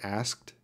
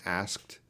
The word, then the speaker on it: asked: have no free time how to pronounce asked asked as a tea sound asked okay and some little Kevin there subtitle movieclips asked you got that t sound at the end asked dear Oh Andre dear